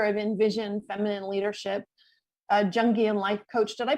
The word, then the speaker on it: Jungian: She is the founder of InVision Feminine Leadership, a Jungian Life Coach. Did I pronounce that right? It's Jungian.